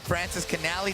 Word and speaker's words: Francischinelli: Man, I thought Kuiks is big, and man, Francischinelli, did I say it right? Yeah, you did.